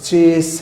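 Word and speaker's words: chase: یہ بھی غلط بولا جاتا ہے، اس کا بھی درست تلفظ چیس ہے، سین کے ساتھ ہے، چیز نہیں۔ تو ناظرین، ہمارا یہ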